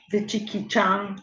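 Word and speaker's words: vicikicchaṃ: The C's in Pali are pronounced as a CH. Vichikichang is this one.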